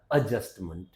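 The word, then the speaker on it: adjustment: क्या होता है एडजस्टमेंट एम एंटी हमारा मंट होता है मेंट नहीं होता तो इसको क्या बोल दिया जाएगा एडजस्टमेंट ओके अ जुडिकल क्या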